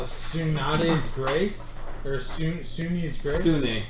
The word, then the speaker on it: Sune: Sune. How do you spell it?